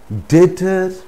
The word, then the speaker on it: debtor: For example, debtor, debtor, or indebted. So the root word is date. So debtor, indebted, doubtful, subtlety, subtlety. So in these cases also B is not pronounced. That is, B is silent.